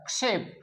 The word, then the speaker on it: क्षेप: तो सम जोड़ क्षेप शब्द है, क्षेप, क्षेप क्या उच्चारण होगा इसका, क्षेप, आक्षेप नहीं होगा।